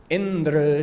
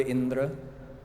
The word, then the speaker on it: Indra: Instead of adyudatta, with the emphasis on the first syllable of the word Indra, they did antyodatta. They put the emphasis on the last syllable of the word Indra.